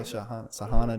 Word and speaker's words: Shaghana: No, it's Shaghana.